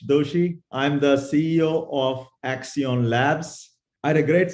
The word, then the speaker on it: Accion: guest kinesh Doshi who is the CEO of Axion Labs did I pronounce that correctly is that is right okay